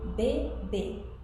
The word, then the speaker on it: bébé: With this accent, it's going to be pronounced A. Example, bébé, which is baby.